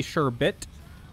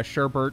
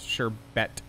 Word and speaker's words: sherbet: you're having sherbet uh it's actually sure bit s-h-e-r-b-e-t there's no second r in sherbet uh sherbert is a mispronunciation that is now more common than the real pronunciation in america um but yeah i